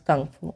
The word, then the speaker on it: Kung Fu: So how to pronounce Kung Fu? It says Kung Fu.